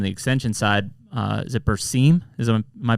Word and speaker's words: Berseem: You've brought up, or you've introduced from the extension side, is it Berseem? Am I pronouncing that correctly?